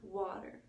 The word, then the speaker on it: water: vowel a though and that's the sound of all like water Oh water it's the letter eight but the sound is all it's like almost like